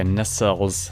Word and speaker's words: nacelles: Okay, nacelles is how it's pronounced.